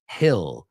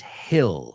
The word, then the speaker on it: hill: Que vimos la palabra hill antes, que no se pronuncia como heel, right? It's not like heel, right? It's hill, hill.